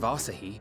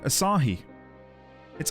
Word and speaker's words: Asahi: So Fandaniel, in the guise of Asahi, was playing both sides against each other the entire time. Asahi? I've been saying Asah. It's Asahi. Like Lahi Asahi.